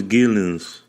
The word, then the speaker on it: Geelens: His name is Geelens.